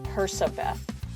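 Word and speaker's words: Percabeth: I'm not sure what the consensus is on how you pronounce that, but I think it should be Persabeth, because nowhere in Percy's name or Annabeth's name is there a hard K.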